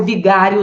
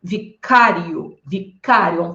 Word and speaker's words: vicário: ouviu com outra pronúncia não é verbo Vigário não tá gente é verbo Vicário paroxítona terminada por ditongo crescente E aí professor O